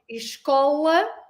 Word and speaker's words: escola: There is also a slight difference in the O. Do you notice the slight difference on the pronunciation of the O? Escola. Yep. Remember the O. We did with the O and the O. Open your vowels. Escola with O. And then esco, like a vo.